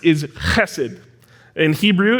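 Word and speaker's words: חֶסֶד: how it's pronounced is hessed in Hebrew it's it's kind of guttural and deep it's like you're clearing your throat it's acid and the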